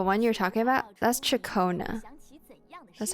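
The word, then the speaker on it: Ciaccona: That's Chakona. That's how you say her name. Shakona.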